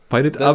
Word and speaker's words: Pirateaba: I think it's Pirateaba. Pirateaba. That's how the narrator in the audiobooks pronounces it.